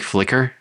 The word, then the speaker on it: Flicker: how we spell it it's like liquor like a drink but with an F at the front oh that's kind of